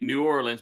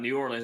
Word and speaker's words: New Orleans: I am in Lafayette, or let me say it like they say it, Lafayette, Louisiana. Lafayette. Oh, so that's just like some people say New Orleans, but it's not New Orleans, it's New Orleans.